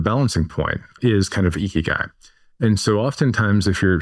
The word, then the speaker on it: ikigai: And I'm going to mispronounce it, but there's a Japanese phrase of ikigai or ikigai.